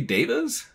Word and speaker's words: devas: And like Veda is V-E-D-A and this is D-E-V-A and you pronounce Veda, Veda. So it was like, is it supposed to be devas? But the whole, like, the past 9 years or whatever that they've been in the world, I've pronounced it divas.